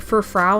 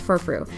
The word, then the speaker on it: Furfrou: I always want to pronounce it Furfrau, and it's like, that's not it, it's Furfrou.